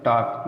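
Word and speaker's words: talk: देखिए ए और ओ यू इन दोनों के बाद यल आएगा तो साइलेंट रहेगा। एग्जाम्पल टॉक, देखिए ए के बाद यल आया, वाक, कॉम, कॉप।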